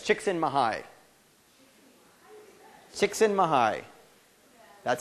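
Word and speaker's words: Csikszentmihalyi: uh someone up here said it's chicksen mahai chicksen mahigh that's how he pronounces it yeah yeah um chicken Mii um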